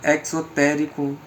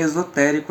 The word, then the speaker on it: esotérico: A imposição do seja perfeito por parte do acusador demoníaco perde seu distorcido significado exotérico. Com X. Enquanto imperativo de uma... A pronúncia é esotérico, eu só enfatizei mesmo.